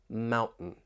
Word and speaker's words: mountain: words right here and just listen for that glottal T when I say Mountain certain kitten the The Sounds coming from your throat waitting wait and see I I want you to try to listen for that glottal te just wait and see